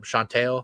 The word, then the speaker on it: Shantel: And then um Shantel I think is how you say her name. She said I asked her because I wanted to make sure.